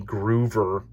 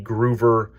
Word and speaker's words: Gruver: of the name lenny groover i sometimes pronounce it incorrectly uh instead of a v i kind of my brain thinks be but it's lenny gruver the truck was uh